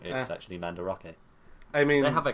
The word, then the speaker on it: Mandarake: this other one we watched they went into Mandrake and i was like i buy things from there me too but they actually pronounce it manda rocky I'm do like you so new new bit